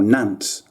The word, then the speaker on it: Nantes: when people mispronounce this scarlet nantes or nance that's how it's really pronounced mate anyway mate thank